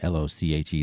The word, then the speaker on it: Lochi: It's @ryanlochi, l o c h i. That's how you pronounce my name, by the way, Lochi.